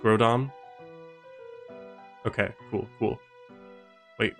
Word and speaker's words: Groudon: There's no N, just Groudon. Okay, cool. Wait, Ground N?